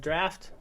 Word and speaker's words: draught: Yeah, it says draft with the AUGHT is pronounced exactly like draft, DRAFT, and it also shares most of the same meanings.